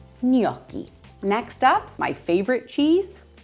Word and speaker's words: gnocchi: Gnocchi, gnocchi, gnocchi, gnocchi.